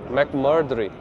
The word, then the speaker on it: McMurtry: I'd see this car The McMurtry McMurtry That’s how you say it This car here It